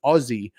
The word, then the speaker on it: Aussie: By the way, Aussie is pronounced Aussie. Oh, that's true with a Z kind of.